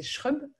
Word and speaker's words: Schrub: j'aurais dû te demander avant, je ne suis pas sûre de comment on prononce ton nom de famille, c'est Schrub? C'est Schrub, ouais, c'est ça.